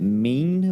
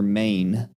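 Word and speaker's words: Meine: his last name Mike is it mean or main it's m i n e m e i n a NE I think it's mean give me a second but I'm not sure mean how's it spelled m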